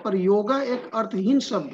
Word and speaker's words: योग: पर योगा एक अर्थवान शब्द है, पर योग एक अर्थवान शब्द है, पर योगा एक अर्थहीन शब्द है। योगा का कोई मतलब नहीं होता है, इसलिए हमें उच्चारण को ठीक करना चाहिए।